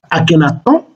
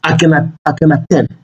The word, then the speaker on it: Akhenaton: on prononce son nom avec deux variantes, Akhenaton ou Akhenaten.